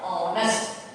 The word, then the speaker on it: honest: Hest we say our honest our Hest so wait for half hour we have to add and and here honors so H is silent so we are adding and before the word honest before the word honest